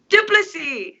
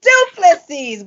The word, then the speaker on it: Du Plessis: I am featuring former background vocalist, Miss Lois Du Plessis. I always say it wrong. We've been working on this one today. Help me out, Lois. Du Plessis. Du Plessis.